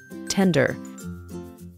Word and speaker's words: tender: When you bite into tender meat, it easily breaks apart in your mouth. This is a two-syllable word that is stressed on the first syllable. Tender.